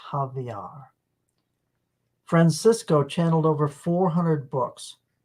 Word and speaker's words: Xavier: nasolar my Francisco Javier his name looks like Xavier but since he is from Brazil it is pronounced Javier Francisco channeled over 400